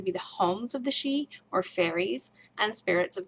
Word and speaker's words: Sidhe: Ancient Celts believed in Sidhe. Think of the word banshee. So Sidhe is spelled S-I-D-H-E. It's an Irish word, but it's pronounced she.